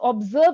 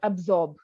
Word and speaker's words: observe: like other words see when you pronounce observe it's observe and not absorb so sometimes when you not pronounce it properly it sounds like absorb and absorbs a different word so you need to